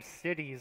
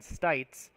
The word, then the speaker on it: Stites: I was made aware that that the entirety of this game I've been pronouncing Stites' last name Cities. I completely misread the roster, so I apologize for that.